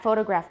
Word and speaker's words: photograph: of words um so we have the stress on the first syllable and all of these diplomat photograph monotone but look at the